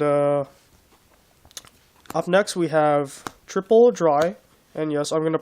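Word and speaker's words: Drei: Yes, this guy's name is actually pronounced Dry, which is I guess German for the number 3.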